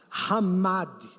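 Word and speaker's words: חמד: palavra neutra não é significa desejar ramad essa pronúncia no hebraico é somente quando direcion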